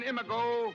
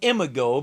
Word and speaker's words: Imago: this is reflecto on imigo go ahead brain he says emigo because for all his learning and knowledge the brain never did get the hang of pronouncing Latin and what else would